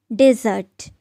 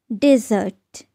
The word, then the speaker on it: dessert: No, it's dessert. Dessert. Do not confuse this word with desert.